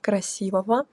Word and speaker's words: красивого: They give actually useful pronunciation rules, like pronounce go as vo, красивого.